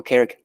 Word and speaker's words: Carrick: To remember Carrick, think of people that work for Carrick, characters. That's how you pronounce Carrick.